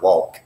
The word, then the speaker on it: walk: you say walk but you don't really say the L with the tip of your tongue like you normally say an L it's not walk it's walk walk run run is a